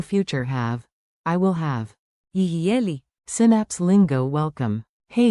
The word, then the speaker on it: יהיה: Tiny pronunciation tip, say it like a smooth free beat, yi ha yi.